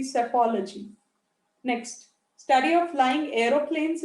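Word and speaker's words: psephology: is called as apology p s e p is silent you pronounce it to be safology next study of flying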